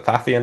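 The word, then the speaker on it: Pfaffian: So, Fathian is spelled with a P at the beginning, by the way, for those who don't know. And it's it's it's actually not PH is what's even worse. It's PF for some reason.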